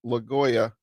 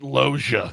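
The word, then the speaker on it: Loggia: and uh Robert Lgoya, Scarface and Big, dude.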